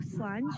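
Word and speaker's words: Slàinte: So we're called Slanch of Scotland. That's the name of our company. So Slanch, which means cheers in Gaelic. And I'll just spell that for you guys. For you, Joe, it's SLAINTE.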